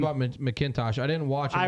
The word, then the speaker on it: McIntosh: about McIntosh. I didn't watch him. I Ryan- watched him. He is McIntosh. So 9. Kenny McIntosh. Yeah. It's McIntosh. McIntosh. There's no A. I'm sorry. Not MacBook. McIntosh.